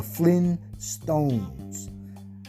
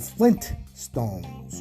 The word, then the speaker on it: Flintstones: remember the flintstones f-l-i-n-s-t-o-n-e-s the flynn stones uh nowadays it's called flint stones you know like you're starting a fire the flintstones f-l-i-n-t is total s-t-o-n-e-s um now we've we pronounced it flintstones flintstones uh i don't